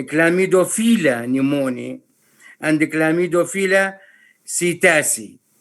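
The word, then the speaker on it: psittaci: pneumoniae and the clamidophila sitasi or some people pronounce it sitaki clamido fila pneumonia and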